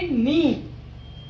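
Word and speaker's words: knee: fourth word के N double E, इसको बोलेंगे नी, ठीक है, के जो है वो साइलेंट है इसमें, तो नी है ये,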